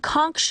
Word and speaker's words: conch: WITH LITTLE FOOD AND WATE THEY REPORTEDLY SURVIVED OFF RATS AND CONCH (pronounced 'CONK') SHELLS.